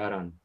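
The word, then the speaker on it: 荒野: アラン、荒野と書いてアランなんですが、大谷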